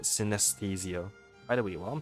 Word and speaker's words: synesthesia: of taste and utilize Synthesia that's not how to pronounce the word synesthesia by the way while